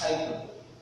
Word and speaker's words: hyperbole: This is pronounced hyperbole.